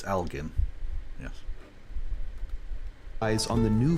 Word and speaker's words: Elgin: Americans do tend to say Algen, but it's Algen.